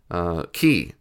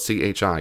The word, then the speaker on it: chi: But to let you know, the X isn't an X. It's not. X is actually a Greek word. It's a Greek letter. Chi. You might spell it C-H-I. Chi. It's the first letter of Christ in Greek.